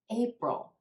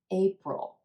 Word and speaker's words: April: begins in March April April two syllables in this word with emphasis on the first syllable and the a is in gray April again the tendency for